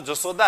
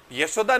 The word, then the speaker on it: यशोदा: कहते हैं जशोदा आ तो कौन है कहा तो जशोदा है यशोदा नहीं कहेंगे उधर मारवाड़ की तरफ कहता ही नहीं है उनसे बोला ही नहीं जाए ये शब्द तो तो उधर है ना उच्चारण में परिवर्तन देखने को मिलेगा ये को उधर